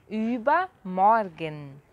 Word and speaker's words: Übermorgen: Übermorgen. Übermorgen. Então o ultramado tem som de ü, você faz no biquinho e fala i. E o er tem som de a. Übermorgen.